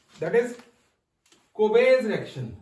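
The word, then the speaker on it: Kolbe: ठीक है, अब देखो सेकंड जो रिएक्शन है यहाँ पे, दैट इज कोबेज रिएक्शन, इसको बोलते हैं कोबेज, एल is silent over here, कोबेज electrolytic reaction या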